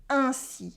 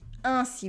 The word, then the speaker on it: ainsi: It is ainsi. Ainsi. We have a consonant after the sound un, so it stays nasal.